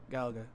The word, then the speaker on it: Galaga: don't know I never really learned how to pronounce it oh it's Gallagher there we go I guess I was right